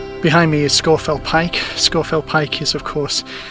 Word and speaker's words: Scafell Pike: these uh hills these fells scorefell not scarfell scorefield pike not scarfall pike that's how it should be pronounced i know it's spelt scarfell but it's